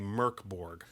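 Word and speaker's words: Mörk Borg: year zero engine uh mork borg or i think what the swedish pronunciation is supposed to be murkborg whatever um you say mirkborg i say morkborg close enough close enough but so it is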